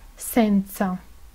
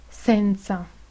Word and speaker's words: senza: la s española es la s italiana tiene sonido sorno en posición inicial seguida de una vocal por ejemplo senza senza en posición inicial seguida